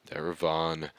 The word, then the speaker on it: Darevon: Darevon, by the way, thank you, chat, for correcting me on pronunciation. Darevon.